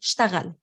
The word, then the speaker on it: اشتغل: this out, because we, in pronunciation, we say اشتغل. اشتغل. You're not going to hear the E often. And in the imperative اشتغل, اشتغل. So we drop the E sound.